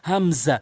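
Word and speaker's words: همزة: করবেন আলিফ আলিফ আলিফ এরপরে রয়েছে হামজা হামজা এভাবে কোন টান হবে না এবং হামজা হরফের শুরু থেকে এভাবে উচ্চারণ করবেন হামজা হামজা এবং আমি যে হরফের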